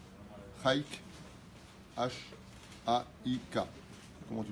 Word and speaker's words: Haik: Ou bichlalam pour Sarah, j'espère bien le prononcer, Chaik, H-A-I-K. Comment tu prononces? Chayak.